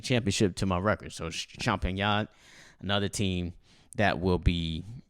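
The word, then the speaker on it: Champagnat: it's a small school i'll spell it for you it's c-h-a-m-p-a-g-n-a-t champagne yeah but they are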